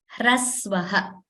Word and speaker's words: hrasva: So here, hrasva, you see this word here, hrasvaha, that is how it is pronounced.